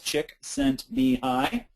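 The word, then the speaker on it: Csikszentmihalyi: Chick sent me high and it's easy to pronounce. It's four syllables. Chick sent me high.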